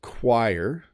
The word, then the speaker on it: choir: for example chorus yeah so choir uses the qu sound choir and chorus uses the hard k sound chorus very interesting a